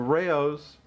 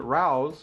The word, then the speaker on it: Rao's: the correct pronunciation of Rayo's. I've heard some people on the internet mispronouncing it. I used to mispronounce it myself. I called it Rao's. It's Rayo's. Rayo's sauce.